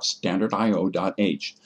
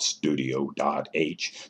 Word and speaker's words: stdio.h: for input and output it is proper to pronounce stdio.h either by its letters s t d i o dot h or call it standardio.h but not studio.h there is no u